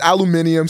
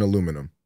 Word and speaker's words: aluminium: The only thing I'll give fucking the UK fucks is aluminium sounds way cooler than aluminum.